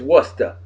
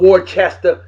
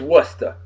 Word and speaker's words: Worcester: masshole and yes it's Worcester it's not war Chester it's not war sester it's Worcester all right Worcester w